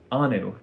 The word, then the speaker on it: Anu: Anu.